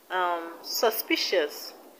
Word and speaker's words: suspicious: the words delicious delicious suspicious the stress is on p p suspicious suspicious now religious the stress is